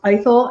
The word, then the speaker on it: Ithell: the first sentence of the book is it's pronounced either and it's either cohen um i just i